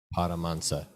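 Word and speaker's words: Paramahansa: stop here's another word it's written as parama Hansa Yogananda but it's actually pronounced as paramhansa yeah okay so SRI Swami yoga Nanda paramansa but that should not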